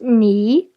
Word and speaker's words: 你: This character is pronounced ni, which means you.